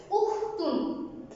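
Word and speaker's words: أُخْتٌ: উখতুন। এখানেও দেখো উ, প্রথমে কি উচ্চারণ আসছে? উখ, রস্যু খ উখ, তয়স্কার তু দন্তন্য তুন, উখতুন রস্যু খ উখ, তয়স্কার তু দন্তন্য তুন, উখতুন।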